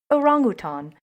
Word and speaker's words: orangutan: let's get into it starting with the arangluton as my auntie lorraine would say she is from malaysia and she probably pronounces it the correct way orangutan orangutans are considered to